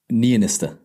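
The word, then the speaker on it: Niinistö: Well, it's got an umlaut on the O, so it needs to be an It's Niinisto.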